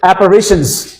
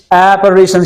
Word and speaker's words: apparitions: Apparitions. Apparitions. यहां पे primary stress है, यहां पे सेकेंडरी स्ट्रेस है, यहां पे प्राइमरी स्ट्रेस है, और apparitions आप इसको कहेंगे।